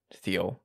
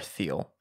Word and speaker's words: Thiel: She sent me a message to correct my pronunciation, which is Thiel. What she does. Thiel. We haven't talked in like months, and she said, it's Thiel, not Thiel.